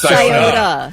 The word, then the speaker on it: Scioto: Scioto River. That's pretty good. Say it again. Scioto River. That's pretty Yeah, good. I'll give you that. Scioto. It's Scioto. Scioto.